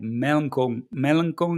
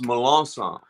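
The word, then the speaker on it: Melancon: I'm saying it right melanchol guitars is that nobody nobody gets it right It's Milan song Milan song okay I'm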